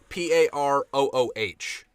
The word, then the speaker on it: Peru: It is Vesnut with 2 T's, so good memes, and Peru with like Parooh.